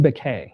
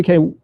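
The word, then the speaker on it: Baquet: I read this really interesting article talking to, I just learned I've been mispronouncing his name, Dean Beck, B-A-Q-U-E-T. So Dean Beck in 2004 was the editor of the Los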